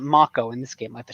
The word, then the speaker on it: Mako: it in this game I always pronounce that Mako in my head as a kid but now they pronounce it mock Oh in this game with